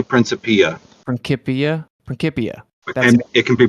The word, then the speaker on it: Principia: I say Principia. Principia. And it can be Principia or Principia. That's what I've heard. I say Principia usually, yeah. So Principia, maybe.